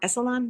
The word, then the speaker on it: Esalen: Esalen, it's pronounced yes. Esalen. Yes. Yes. Ellen.